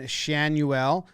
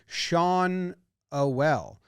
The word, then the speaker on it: Schanuel: Schanuel. Someone told me it was rhymed with Manuel. I'm wrong. Schanuel? Schanuel. That's what Baseball Reference says.